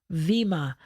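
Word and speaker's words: bema: the role of authority from the vima. That's spelled B-E-M-A.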